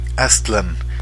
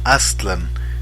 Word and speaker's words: Aztlán: de un lugar llamado aztlán así con digamos en el acento en la a atland no aztlán aztlán todas las palabras nahuas son graves no agudas bueno salvo algunas raras